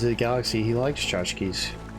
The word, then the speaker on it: tchotchkes: Because, you know, Yondu from Guardians of the Galaxy, he likes tchotchkes. Well, not Chotsky. Tchotchkes, he likes them.